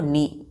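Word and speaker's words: knee: तो इसको क्या पढ़ेंगे घुटने को नी के नहीं पढ़ते हैं एन ई पढ़ते हैं नी चलिए पहला अपर ले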